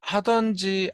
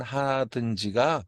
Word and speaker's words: 하든지: 범하는 분들이 굉장히 많습니다 발음을 할 때도 오류를 범하는 경우가 있어요이 하든지 안 하든지이 발음을 할 때 하던지 안 하던지 이렇게 발음하는 경우가 있어요 그리고 글로 쓸 때 하던지 안 하던지 이렇게 쓰시는 분들이 많은데 그거는 잘못된 발음이고 잘못된 표기입니다 하든지 안 하든지가 맞는 표현이고 맞는 바람이다라는 부분도 명심하시고